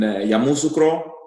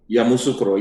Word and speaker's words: Yamoussoukro: I'm born in Cote d'Ivoire, Ivory Coast, and precise in Yamoussoukro. There's the city Yamoussoukro. in Yamoussoukro. Yeah, there's the your pronunciation is good.